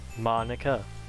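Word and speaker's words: Monika: right in your name Monica yeah that's not how you say my name at all also wait what Monica that's how you say it mo nica that makes that joke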